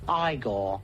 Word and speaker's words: Igor: No, it's pronounced Igor. But they told me it was Igor.